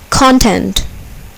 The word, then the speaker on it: content: Here, the second syllable is accented. Control. Content.